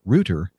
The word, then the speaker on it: router: an Internet box thing we call them a Rooter but spell it router which is ro u